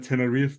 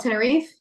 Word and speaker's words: Tenerife: Going to that tiny island down there in Tenerife, man.